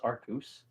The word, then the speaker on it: Arceus: May Arceus have mercy on your soul. Thank you. It's pronounced Arcus. Yes.